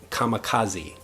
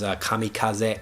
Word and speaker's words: kamikaze: in Japanese and also we have come kamikaze kamikaze in English which is kamikaze in Japanese this is for someone